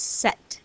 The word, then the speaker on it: cet: all about the sound because it wouldn't sound right to say suit or air we say sect all rare we have that